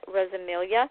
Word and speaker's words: Rosamilia: I am your host and my guest tonight is radio host and author Arman Rosilia and he said that I do pronounce his last name correctly which like my first name most people get wrong.